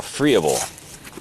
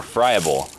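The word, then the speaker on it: friable: So, this organic matter is is much more usable because it's what we call freeable or fryable, depending on how you like to pronounce it.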